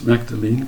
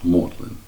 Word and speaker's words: Magdalene: Is this Magdalene College? Oh, the phone went down again. And that happened 3 or 4 times. And finally caught on that Magdalene College really should be pronounced as Magdalene.